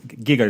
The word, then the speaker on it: Giger: HR I think it's pronounced Giger. It's not Geiger.